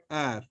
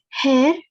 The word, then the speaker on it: heure: Hair. No, H is silent. So it is air.